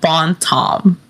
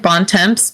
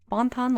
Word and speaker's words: Bon Temps: tiny little town Louisiana, Bon Tom. It's spelled BON space TEMPS, so it looks like Bon Temps, but it's Bon Tom. Because it's French, because it's Louisiana. Bon Ton, Louisiana.